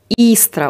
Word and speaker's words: Истра: Истра ударение. А, ну простите, Истра, видите, не так, немножко.